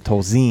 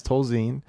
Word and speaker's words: Tolzien: Scott Tolzien's name, because it's important to pronounce it Tolzien.